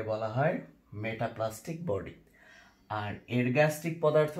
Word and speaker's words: ergastic: সেটা হচ্ছে বাংলায় লেখা আছে আরগ্যাস্টিক পদার্থ, অ্যাকচুয়ালি উচ্চারণ হবে এরগ্যাস্টিক। আমি ইংরেজিটা লিখে দিই ERGASTIC, এরগ্যাস্টিক সাবস্টেন্স বা এরগ্যাস্টিক পদার্থ, এরগ্যাস্টিক পদার্থ।